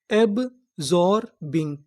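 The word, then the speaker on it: absorbing: मैं आपको बता दूं कि जो हमारा एस होता है वो कभी कभार जा का भी काम करता है। किसका काम करता है? जा। यहाँ पर जो हमारा एस है वो जा का काम करेगा।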